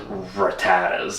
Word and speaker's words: Rattata: There was Pokemon trainer Joey, and he was in the game, big obsessed with Rattatas.